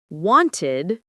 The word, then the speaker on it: wanted: For example, walked to T, played to D, wanted to id.